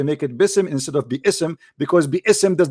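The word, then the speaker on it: بسم: It is biism, not bism.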